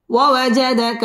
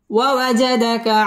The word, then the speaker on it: ووجدك: ووجدك عائلا ووجدك عائلا. فا زبر فا، همزة غين زبر أو، فأغ. نون كلا زبر نا، فأغنى. ووجدك عائلا فأغنى ووجدك عائلا فأغنى. ওয়া ঠোঁট গোল করে উচ্চারণ করব।